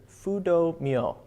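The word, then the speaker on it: Fudō Myōō: from this other figure, Fudo Myo, F-U-D-O-M-Y-O-O. And yes, that is definitely an Anglo pronunciation of that.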